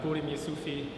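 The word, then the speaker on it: Burim Jusufi: to tell me your name hi everyone I'm buim yui AKA yes thank you for being here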